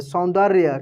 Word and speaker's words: सौंदर्य: शब्दों को पढ़ेंगे सीखेंगे सौंदर्य आधा नो और 10 संयुक्त है तो नो को तेजी में पढ़ेंगे या के ऊपर रेप की मंत्र है तो डी के बाद आर का उच्चारण करेंगे सौंदर्य क्या पढ़ेंगे सौंदर्य को